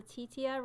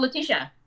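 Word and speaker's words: Letitia: place here and the lady from um the titia right the lady from black panther the sister oh latisha yeah oh that's how you say it sorry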